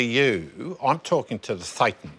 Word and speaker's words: thetan: So a thetan, we pronounce it a thetan, in Scientology is a consciousness.